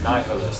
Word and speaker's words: nihilist: There's the Queen's tongue, nihilist, that's a long I. So the syllable ends with a vowel, so you lengthen the vowel. That's Queen's tongue.